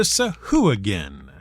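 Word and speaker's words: sahuagin: an episode about nearly everyone's favorite hard to pronounce monster the sahu again which we are clearly going to keep pronouncing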